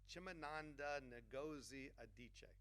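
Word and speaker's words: Chimamanda Ngozi Adichie: So, Chimananda Ngozi Adichie.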